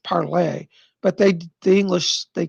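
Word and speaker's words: parler: is actually spelled p-a-r-l-e-r it's actually french it should be pronounced parlay but they the english they call it parlor okay um second bob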